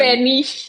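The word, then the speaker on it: Spanisch: I thought I had a different pronunciation. It's like an SCH at the end. Spanish.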